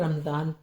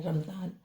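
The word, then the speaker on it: رمضان: फिर आ जाता है रमजान रे मीम जवाद अलिफ जवा रमज नून रमजान रामा रम जा आ का डंडा ना रमजान तो ये रमजान शरीफ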